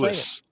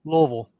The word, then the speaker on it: Louisville: No, wrong. It's not how you say it. Lewis. It's Louisville. Louisville. Louisville. You left half the words, the letters out. If you can say it in one syllable, you're even better.